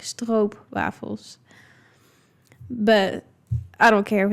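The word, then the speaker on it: stroopwafel: So you pronounce like o as in um maybe like what you guys would would say like o a as in boat. It's kind of like o like that like strobe waffles.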